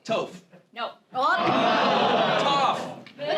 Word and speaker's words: Toph: well, no, it's tough. Toph.